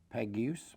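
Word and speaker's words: Peguës: a lot enemy sipping pronounces alya faith peg goose p EG ues was born at 10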